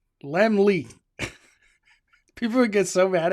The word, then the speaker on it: Lemley: Let me I was pronouncing Lemley court wrong for many years. It was embarrassing. I called it le and they're like, "It's it's Lemly." Lemly.